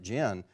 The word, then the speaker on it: djinn: i realized the pronunciation the d is silent so you just pronounce it gen just as though it was spelled g-i-n and thinking oh what